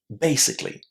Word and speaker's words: basically: How are these last five letters here pronounced? As just one syllable, right? As cle. This is a universal rule you can apply to any English adverb that ends in c a l y. It's pronounced as clay.